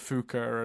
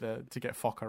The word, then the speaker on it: Fokker: on this movie because people weren't pronouncing Fokker consistently at all throughout the movie. There's a lot of Fuka and other ways of pronouncing it. So ultimately, they had to go back and do a few reshoots to get, or like ad libs, like ADR, to get Fokker right.